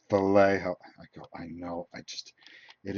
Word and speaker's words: Vallejo: Vallejo. Whenever I get on video, I always say it wrong, and people go, it's Vallejo.